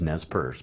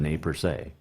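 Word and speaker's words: Nez Perce: bunch of nate per se also known as nes purse but the correct pronunciation is the name per se that would happen at the big hole all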